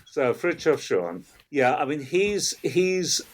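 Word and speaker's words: Schuon: the first name though ah frof so frof Shan yeah I mean he's he's in he's in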